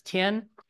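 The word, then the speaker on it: 天: Now in modern Mandarin, we pronounce this tien, but at the time, 1500 years ago, when people in Japan were learning Chinese characters, it was pronounced ten.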